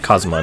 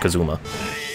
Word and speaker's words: Kazuma: I keep forgetting that it's pronounced Kazuma, not Kazuma.